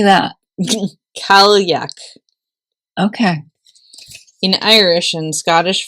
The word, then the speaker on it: Cailleach: Cailleach.